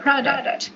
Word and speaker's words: product: So be careful guys with the pronunciation of the word product. Product. Product. Product. Okay? So you make emphasis on the first syllable.